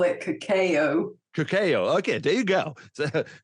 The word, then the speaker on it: cacao: How did you pronounce it? I call it cacao.